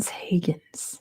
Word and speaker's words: Huygens: Higgins is how you say it. Mon Higgins apparently.